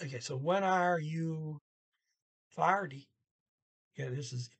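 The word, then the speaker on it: ferdig: so when are you farty yeah this is f e iris fire party the g is silent f-e-r-d-i-g paw uh at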